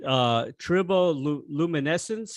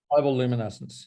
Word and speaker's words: Triboluminescence: Now, this is the first time I heard your last 2 solo albums, Metal Dog, and is it Triboluminescence? Is that how you pronounce it? Triboluminescence. Triboluminescence.